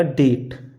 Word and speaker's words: debt: अगर आपको टी से पहले कहीं बी दिखे तो वहाँ पर भी बी का उच्चारण हम नहीं करते। जैसे ये हमने लिखा डेट, DEBT, क्या ये डे बट ना है, ये लिखा है डेट।